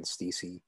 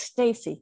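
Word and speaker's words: Steacy: and uh working with ken steezy um it's pronounced stacy stacy sorry thank you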